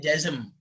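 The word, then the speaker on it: جزم: ada jazm. Bacanya jazm.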